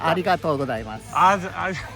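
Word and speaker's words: ありがとうございます: Arigatou gozaimasu.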